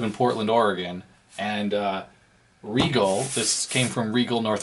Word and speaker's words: Rigol: riol oh Regal I actually know it's called pronounced Regal a Regal ds1052e common good scope um basically you know